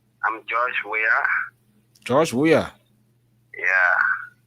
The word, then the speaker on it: Weir: Weir, not Weir. Oh, well, I see the way you are. The WRAH. Yeah. I know. But I see Weir, but it's pronounced Weir, even though the E is the difference.